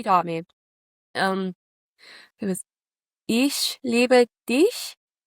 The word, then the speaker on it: Ich liebe dich: Um it was Ich liebe dich."